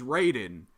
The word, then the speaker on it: Raiden: cuz we're all combat Raiden is Raiden ra y de N and what's spelled with an i you pronounce it with the Y but then Metal Gear riding is right in but I keep reversing it and calling one the other and it's killing me